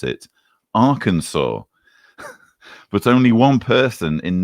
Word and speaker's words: Arkansas: In the 11 years from 2006 to 2016, it killed 232 in, and I now know how to pronounce it, Arkansas.